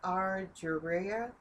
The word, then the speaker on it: argyria: not to butcher this name, but it's called argyria. It's spelled Argyria.